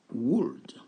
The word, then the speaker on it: would: Donc, n'oubliez pas, on ne prononce pas le L.